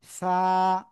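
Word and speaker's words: ث: সবাই আমার দিকে তাকান জিহ্বার আগা এই দুই দাঁতের আগায় লাগা হবে কোথায়? এই দুই দাতের আগা এইভাবে লাগিয়ে হালকা বাতাস বের করবেন। এভাবে অনুভব করবেন হাত দিয়ে যে বাতাস বের হচ্ছে কিনা। তারপরে জাস্ট এক আলিফ টেনে উচ্চারণ করবেন।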